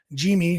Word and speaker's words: Yimi: how it's pronounced uh jimy which I guess is you know just Yi with a J sound which you know makes